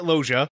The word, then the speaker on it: Loggia: your new new zealand d uh has you pronouncing names it's robert loja and vivica a fox not vevika what or